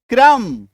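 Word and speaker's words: crumb: सिर्फ उसको मैं आपको काट के दिखा रहा हूं कि इसका उच्चारण नहीं है। सी आर यू एम बी क्रम पी एल यू एम ई आर एम बी are Plummer.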